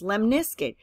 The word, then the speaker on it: lemniscate: you l-lemon iskut okay I know it sounds kind of strange maybe like limp Biskit but it's lemniscate oh well anyway so